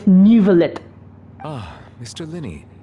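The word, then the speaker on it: Neuvillette: my show okay so his pronunciation is nivelet ah Mr Lenny say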